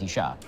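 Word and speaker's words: אישה: Yeah, it's ish, which is spelled aleph yud shin. It's the same spelling, you just add a hey at the end, and now it's Isha.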